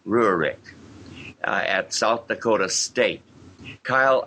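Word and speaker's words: Rehurek: It's spelled R-E-H-U-R-E-K, Rurik, at South Dakota State.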